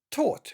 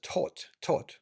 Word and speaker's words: taught: Moana's father, Chief Tui, taught. Видите, не та в ГГТ, о май гад, там что-нибудь можно придумать. GH в серединке не читается. Taught. Ну, американцы могут сказать taught, научил.